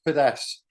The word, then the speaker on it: Fiddes: But before I start, one thing me and you never get right is you can never pronounce my surname right. So it's Fiddes.